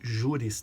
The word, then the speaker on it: juris: Aqui uma observação também para quem está chegando na área jurídica: eu não li juris tanto. O J, ele vira I na pronúncia em latim, iota.